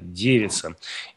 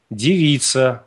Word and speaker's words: девица: девица ударение на е девица и девица ударение на и Благодарю за ответ Так